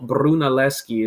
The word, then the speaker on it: Brunelleschi: Filippo Brunelleschi is how you say his last name.